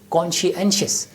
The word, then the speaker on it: conscientious: anxious pronouns so ceo the correct pronunciation of this word is conscientious peace lover conscientious dove